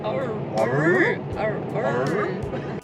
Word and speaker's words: Orroroo: How do you pronounce it? Orroroo.